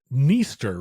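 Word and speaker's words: Dniester: independence the area around the Neer River with a silent D wanted independence from Mula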